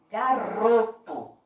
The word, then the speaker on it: garoto: Garoto. Qual foi a sílaba que eu falei com mais força? Exatamente. Foi o pedacinho ró.